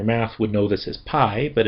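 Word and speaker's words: π: this as pi, but it's not pi in the Aaspian pronunciation. It's P, which is kind of funny in English, but, you know, we'll go with it. And it does have um a P sound as in peach.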